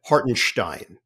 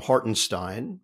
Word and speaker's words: Hartenstein: of their name and Isaiah hartenstein says it like that yeah hartenstein and for years people had called him hortonstein but I went off